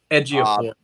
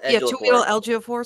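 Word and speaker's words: Chiwetel Ejiofor: His fucking name is like really difficult to pronounce. Ejiofor, I think is how you say it. Okay. It's like Tuil Ejiofor, something like that.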